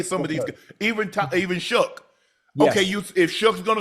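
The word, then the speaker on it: Shough: Tyler, how do you pronounce his last name? Shook.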